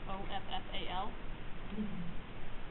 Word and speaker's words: offal: Sometimes called offal, O-F-F-A-L. That's pronounced offal.